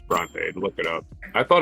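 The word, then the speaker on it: Brontë: Bronte is pronounced, by the way. Bronte. There's the mispronunciation for today. It's Bronte.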